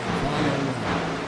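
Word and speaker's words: Followell: My last name is Follow-Up, folks. F-O-L-L-O-W-E-L-L. Follow-Up. That's my last name. It gets butchered all the time.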